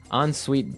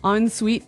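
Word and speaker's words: en-suite: So even though it's e n, we pronounce it like an o n.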